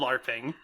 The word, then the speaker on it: LARPing: are really ready to L A RPG which is not how you say it in real life it's called LARPing and also I don't